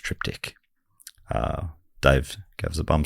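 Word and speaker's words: triptych: people who have supported us years I say trip ditch of course but I know it's actually pronounced triptic uh Dave GES a bum steer and I've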